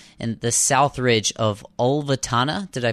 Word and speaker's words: Ulvetanna: the Troll Wall, and the South Ridge of Ulvetanna. Did I pronounce that right, Andy? Yeah, that's right, yeah. Ulvetanna in Antarctica.